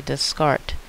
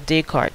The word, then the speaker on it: Descartes: was a French philosopher Rene descarte or Descartes depending on who you're speaking to how it is they pronounce his name he was famous for